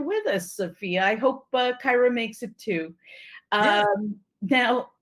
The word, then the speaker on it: Kyra: It's actually spelled like an I, Kyra, as in Tyra.